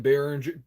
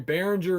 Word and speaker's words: Behringer: c22 so you just have to type in Barringer oh sorry behringer is spelled beh rin ger so I am NOT